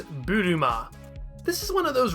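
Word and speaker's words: ブルマ: right so this character her name is buruma this is one of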